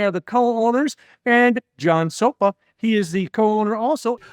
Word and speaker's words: Szopa: And John Szopa.